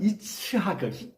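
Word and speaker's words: יצחק: 자, 그런데 문제는 이삭이라고 하는 이름이 원래 히브리식으로 발음하면 이츠하크라고 하는 쉽지 않은 발음입니다.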